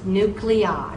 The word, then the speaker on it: nuclei: Now, if the I is at the end of a word to form a plural, you say that I like I. It becomes a long I sound.